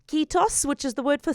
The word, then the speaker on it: kiitos: of this interview, and I hope I'm gonna pronounce it correctly in saying kiitos, which is the word for thank you.